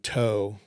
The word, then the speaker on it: TOW: And uh the the acronym TOE it's spelled just like it sounds to O W stood for tubular launched optically sided wireg guided.